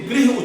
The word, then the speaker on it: गृह: मैं अटल जी को गलत नहीं सिद्ध कर रहा हूं, लेकिन गृह उच्चारण है, घर को गृह बोलते हैं संस्कृत में, ग्रह तो नवग्रह होते हैं, तो गृह मंत्री नहीं होता है।